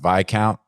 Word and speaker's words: viscount: message me but I I know it's pronounced by count I guess you know